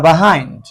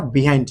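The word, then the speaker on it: behind: দেখতে কি ফন্টার কাম কান স্প্রিং ফার বাহাইন্ড আচ্ছা ন্টার কাম শীতকাল আসে স্প্রিং বিফার বাহাইন্ড স্প্রিং বিফার বাহাইন্ড দেখ কান স্প্রিংবি ফার বাহাইন্ড এটা কিন্তু বাহাইন্ড উচ্চারণ করি আমরা বিহাইন্ড না বাহাইন্ড উচ্চারণ হবে ব্রিটিশ প্রসিয়েশন এটাকে বাহাইন্ড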